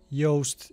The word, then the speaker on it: Yoast: And then in the search box, type Yoast SEO. It's spelled like toast, but with Y, and then install it.